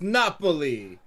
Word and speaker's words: Napoli: It's not Naples. It's Napoli. Yeah.